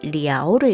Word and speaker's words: 了: 그리고 참고로 얘는 러 라고 읽으면 안 되고 리아오를 읽어야 된다는 거 주의해 주셔야 되고요.